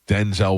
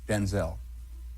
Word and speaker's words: Denzel: is Denzel Washington or Ethan Hawke.